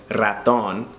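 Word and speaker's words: ratón: So, raton, that in the middle is going to help you pronounce that R in the beginning. Raton.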